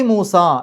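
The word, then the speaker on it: موسى: ഇടാനൊന്നും പറ്റൂല്ല അതിന്റെ അവസാനത്തിൽ മൂസ എന്നുള്ളതിന്റെ അവസാനത്തിൽ ഒരു ഉച്ചരിക്കാത്ത ഒരു യാ ഉണ്ട് അതിന് അലിഫ് മക്സൂറ എന്നാണ് പറയുക അത്തരം യാ വന്നു കഴിഞ്ഞാൽ അവിടെ ആ എന്നുള്ള ഉച്ചാരണാണ് പക്ഷേ യാ ആണ് അവിടെ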